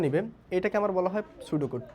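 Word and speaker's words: pseudocode: এটাকে হচ্ছে পি সুডোকোড লেখা হয়, পি সুডোকোড, বা এখানে বলার সময় আমরা উচ্চারণ করি হচ্ছে সুডোকোড।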